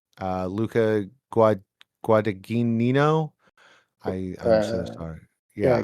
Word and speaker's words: Guadagnino: I always say his name wrong. Luca Guadagnino. I'm so sorry. Yeah, Yeah. Guadagnino.